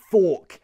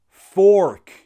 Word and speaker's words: fork: And this, fork, has that same or sound as for, more, door. If you prefer American English, fork. British, fork.